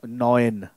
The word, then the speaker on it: neun: EU is going to be pronounced as OE as in boy or toy. OE. Okay, so like we have our number 9, neun.